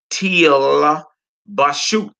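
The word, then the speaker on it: תלבשו: When the Shevas are next to each other, the first one is silent. All right. The first one is silent, and the next one is a sound, as if it was in the beginning of a word.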